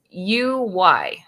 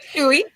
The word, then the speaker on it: Uy: Oui. Sam saying oui. Steve Uy did the cover, but Skottie did all the interiors.